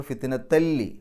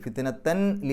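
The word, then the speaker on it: فِتْنَةً لِّلَّذِينَ: ആ ലാമിന് ശദ് കാണിച്ചിട്ടുള്ളത് അപ്പൊ ഓതുമ്പോൾ ഫിത്നത്ത എന്ന് പറഞ്ഞാൽ മതി ഫിത്നത്തൻ എന്ന് പറയേണ്ട ഫിത്നത്ത പിന്നെ ലാമിന് ശദ് കൊടുത്തിട്ട് ലി എന്ന് പറയാം അപ്പൊ ഫിത്നത്തല്ലി ഫിത്നത്തല്ലി ഫിത്നത്തൻ ലി എന്നല്ല ഫിത്നത്തല്ലി ലില്ലദീന കഫറു വഹ്ഫിർലനാം വഹ്ഫിർലന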